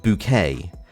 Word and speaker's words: Bucket: features a woman called hyacinth bucket who insists that the her name should be pronounced bouquet because the whole point